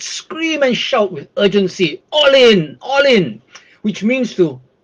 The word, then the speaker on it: Ollin: so today's word is all in okay it's spelled o l l i n pronounce all in all in this is an aspect